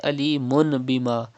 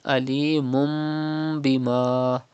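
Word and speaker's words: عَلِيمٌ بِمَا: Do not say alimun bima, but you have to read alimum bima. First change tanween with mim and then do gunna.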